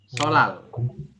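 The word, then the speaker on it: 설날: Jawabannya adalah solal. Solal. Dibacanya adalah sol seperti ini. Sol, lal. Nah, seperti ini.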